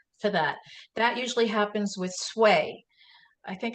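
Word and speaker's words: swai: That usually happens with sway. I think it's spelled S-W-A-I, and you want to be particularly careful about that fish.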